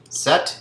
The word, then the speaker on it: sept: of six in French set is the pronunciation of seven sank is five and